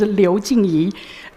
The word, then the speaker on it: Liu Jingyi: The pronunciation of my Chinese name is Liu Jingyi.